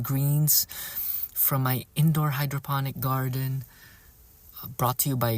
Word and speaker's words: Gardyn: from my indoor hydroponic garden. Brought to you by Gardine. I call it Gardine, but Sarah says it's just pronounced as garden with a Y instead of a E.